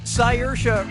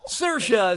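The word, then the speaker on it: Saoirse: yeah sure you do how do you pronounce uh her name sercia ronan siersha ronan sayors ronan or see your eyes ronan so what'd you pick sercia says that's the correct way to say her name oh my god now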